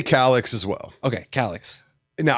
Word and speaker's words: Calix: Okay, so yeah, I say Calix as well. Okay, Calyx. Now I know it's Calix.